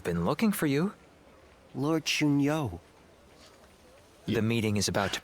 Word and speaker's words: Xun Yu: Lord Xun Yu. The meeting is about to begin. Oh, he said it right. He said Xun Yu.